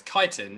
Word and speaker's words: chitin: I guess it's quite hard for me to ask you how to pronounce it. Yeah, it's chitin, yeah.